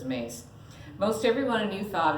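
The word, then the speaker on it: Myss: a long time ago or is mace or miss and however but i believe she pronounces it as mace most everyone a new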